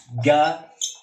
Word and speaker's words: magazine: Magazine. Magasin. Zin. Mira mis labios. Un se estira. Magasin. Magazine. Magazine. Magasin. Lo exagero, pero magasin, magazine. Nasal, ya no es nasal.